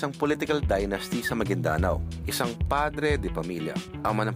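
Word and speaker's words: Maguindanao: e kay kay goob hindi pala magindanao an magindanao yun pa ang tamang pronunciation go ah magindanao yyun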